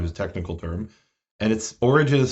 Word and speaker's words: Origen: And Origen is spelled O-R-I-G-E-N. Right? So, in Hebrew, we say Ori-ggeness or Ori-ggeness, which is the Greek form.